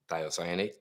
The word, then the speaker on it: thiocyanate: Thiocyanate.